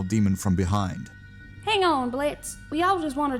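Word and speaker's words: Blitzø: walls red with him name's Blitz the O is silent now why are you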